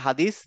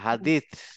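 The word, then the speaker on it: حديث: উনতা তুম্মা তুম্মা হাদিত হাদিত আমরা বলি না হাদিস হাদিস না হাদিত হাদিস হাদিত হ্যাঁ হাদিত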